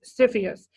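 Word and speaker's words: CFIUS: in the United States commonly pronounced Sophia's it's an inner agency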